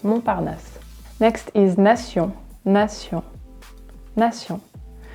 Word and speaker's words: Montparnasse: So of course, here's an example of silent letters, right? We don't say Montparnasse. It's just Montparnasse.